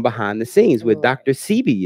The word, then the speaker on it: Sebi: Sebi. Is that how you say his name? Yes. Sabi. There you go.